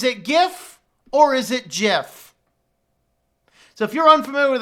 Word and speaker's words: GIF: the guy who actually created the format it's pronounced Jeff so I have a thing we're gonna do